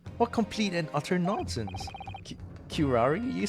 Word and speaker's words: curare: Pronunciation. Let me just do this really quick. I need to know this. Curare.